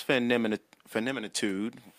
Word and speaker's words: Feminitude: What is feminitude?